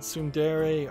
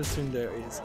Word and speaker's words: tsundere: Moving on, we've got a game called Tsundere Idol. Tsundere is spelled T-S-U in D-E-R-E space Idol, I-D-O-L.